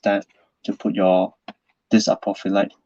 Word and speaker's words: apophyllite: nice big piece apocalypse i like to pronounce this name apophyllite like prophet my next piece okay